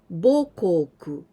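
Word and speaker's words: 母国: Kokugo, adding this kanji of mother, haha, but here we pronounce bo. Bokoku, mother country.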